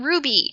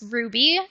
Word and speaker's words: RWBY: thing we've got is let's talk about Ruby we're talking about um the American series Ruby um it is spelled all caps RWBY and it is a